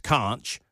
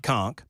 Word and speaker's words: conch: Um also, uh this uh it um 0142 said it's still pronounced Kunch, not conch.